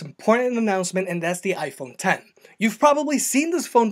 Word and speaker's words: iPhone X: We've got the iPhone 10, which is spelled with a Roman numeral X.